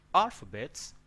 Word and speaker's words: alphabet: Alphabet. Why alphabet? Because the stress is on A.